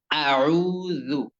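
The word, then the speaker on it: أعوذ: শব্দটি রয়েছে শব্দটি হচ্ছে আউজু আ প্রথমে হামজের উচ্চারণ কি একটু শক্ত এরপরে আইনের উচ্চারণ গলার মধ্যখান থেকে চাপ দিয়ে আউ আউ এরপরে জালের উচ্চারণ নরম করে আউজু আউজু আউজু আউজু আউজু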